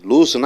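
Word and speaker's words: lose: லூஸ்னா இழப்பது. லூஸ்னா இழப்பது. இறந்த காலம் லாஸ்ட்டும்போம். இங்கே ஆனால் உச்சரிப்பு லாஸ்ன்னு சொல்லக்கூடாது, லூஸ். ரைட்டா?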